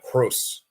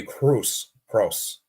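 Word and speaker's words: Kroos: the penalty and then Cruz um actually I think someone told me I'm pronouncing it wrong so it's Tony Cru cross not Cruz okay Tony Cross okay hopefully I pronounce that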